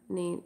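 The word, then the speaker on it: Nene: Some people spell it Nini, I spell it N-E-N-E.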